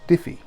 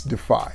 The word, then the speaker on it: Defy: house of Calvin Klein it is Diffy just kidding it's it's defy when I first got